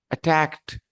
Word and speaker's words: attacked: this D you know the D at the end has a different pronunciation in these three words the first one how will you pronounce the first one attack good everybody Rodrigo Gonzalo Alejandro the first one yes here you have to pronounce sorry you have to make this sound okay attacked the last D will